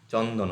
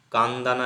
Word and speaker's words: চন্দন: ডি এন এটা ইংরেজি রোমানস্ক্রিপ্টের ক্ষেত্রে আমরা এই চন্দন এইভাবে লেখা হচ্ছে আলাদা কোথায় হচ্ছে যেমন রোমান মানে ইংরেজিতে আমরা সিচ দিয়ে চ লিখি রোমানস্ক্রিপ্ট কিন্তু শুধু সিতে হবে এটা কান্দানা এরকম উচ্চারণ হবে এটা চন্দন উচ্চারণ হবে মানে